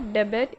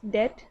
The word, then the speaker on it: debt: इट इज़ नॉट डेबिट, इट्स डेट, DEBT। यहाँ बी जो है वो साइलेंट होता है।